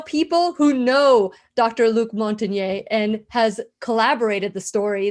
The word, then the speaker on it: Montagnier: Luc Montagnier and has collaborated the story that Judy says.